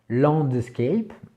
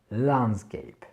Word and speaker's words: landscape: là à ses côtés on a tendance à dire de landscape mais non c'est pas le son en qui va revenir c'est le son à l'âne skype lan scape hockey la nuance est